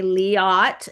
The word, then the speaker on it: Liat: And of course, uh, she tells me how to say it. Okay. Leat, like fiat.